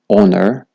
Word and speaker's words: honor: بیشتن H is silent whenever it comes before ON at the beginning of the words. چگاه دست بیکا کلمات دادید H O و N هویتن H نهایتا خواندن. بونمونه honor, honest, honesty.